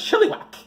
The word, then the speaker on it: Chilliwack: Is that how you pronounce Chilliwack? It's Chilliwack.